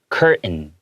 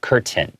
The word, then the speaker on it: curtain: usually tend to take hard T sounds in the middle of words and we kind of swallow it. We make it silent. We go curtain instead of curtain. Okay, so both are acceptable, but it's just you'll hear both.